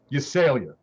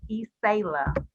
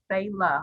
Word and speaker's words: Ysela: Okay, it's Ysela. Ysela? Like Sayla, like Sayla.